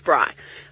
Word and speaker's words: braai: So it's spelled B-R-A-I, braai. You can roll your R if you like. Brent likes to roll his R's lots.